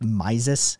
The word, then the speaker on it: Mises: von then i think i think the correct pronunciation is mises actually um but you know yeah and and